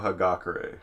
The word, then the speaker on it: Hagakure: his name for me okay it's uh yahiro hagakure hagakure yeah so he's sort of a he's